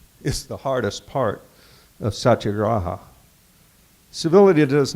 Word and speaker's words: satyagraha: of to do this quote I have to pronounce this word it's his word for his non-violence movement so bear with me it's satyagraha satyagraha thank you you know I played the little